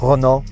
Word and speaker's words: Renault: How do you say Renault? Basically exactly the same. Renault. The French go Renault.